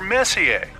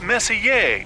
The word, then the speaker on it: Messier: Well, young lady, the M stands for Messier, pronounced Messier, not messier, as in is your room messier than mine.